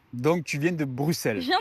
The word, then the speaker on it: Bruxelles: Nous on dit Bruxelles. Et oui mais non parce qu'il y a un X. Oui, mais Oui, mais le le X ne se prononce pas, on dit Bruxelles. Donc, tu viens de Bruxelles ?